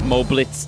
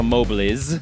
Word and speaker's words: Mobliz: I'll go from Moblitz to Mobliz, because that is definitely more correct.